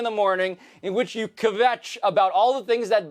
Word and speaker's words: kvetch: It's a really nice job you making kvetch into a 2-syllable word.